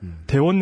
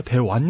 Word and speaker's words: 대원: 다른 비슷한 지적은 뭐였냐면 대원 열전이 아니라 대완 열전이음 이런 지적이 있었습니다음 그 한자로 읽으면 구불 완자 해가지고 대완이 맞아요 대완 열전이 맞는데 이걸 나라 이름일 때는 원이라고 읽는게 맞습니다 이게 왜 그러냐고 저한테